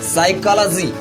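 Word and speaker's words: psychology: Third silent letter is पी। For example साइकोलॉजी, इसका मतलब होता है मनोविज्ञान।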